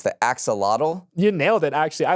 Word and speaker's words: axolotl: So in 2021, I think I'm pronouncing this correctly, it's the axolotl.